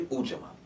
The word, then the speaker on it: Ujamaa: Ujamaa, or some people say Ujamaa. Pronunciations may differ.